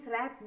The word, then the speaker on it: wrapped: He who is wrapped in purple robes. Look at this word. W-R-A-P-P-E-D. Wrapped. W pronounce. W is silent. So do not pronounce it.